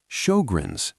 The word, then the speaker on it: Sjögren's: Sjögren's, pronounced show-grens, is an autoimmune condition.